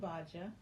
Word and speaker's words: Ugbaja: about yourself okay so my name is iaj I love that oh I can do that